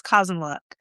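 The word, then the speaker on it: Kazanlik: And so, and it's And for those who want to know, it's Kazanlak. It's not spelled that way, but that's how you pronounce it.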